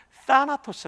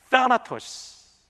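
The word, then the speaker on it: θάνατος: 발음을 서 넣지는 않았지만 쌓아 토스 라고 읽어요 한번 따라해 볼까요 피치 발음이 했답니다 따 아토스 잘하셨어요 입사 1 토스가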